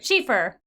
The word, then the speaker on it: Schaefer: Schaefer. I almost said Schaefer. I was like, that's not right.